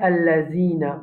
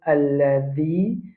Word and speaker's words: الذي: Après, nous avons alladhina. Nous dire allazina. Beaucoup de monde quand je lis le mot alladhi, je dis allazi. Allazi, c'est pas bon.